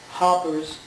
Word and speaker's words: Harper's Ferry: My father used to pronounce it Hoppers because he was from New England, and in West Virginia they say furry, as in fairy.